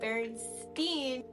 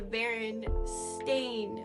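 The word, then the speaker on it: Berenstain: so the barstein Bears and I remember always pronouncing it barstein because it had an EI in it I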